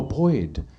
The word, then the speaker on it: Boyd: And uh said his name was Boyd. I said, "I'm sorry. What was your name?" He said, "Boy." "Oh, Boyd. I have never pronounced a D so hard in my life when I was talking